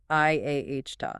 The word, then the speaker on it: IATA: It says IC AO must be pronounced I ko and IATA is I ah dot.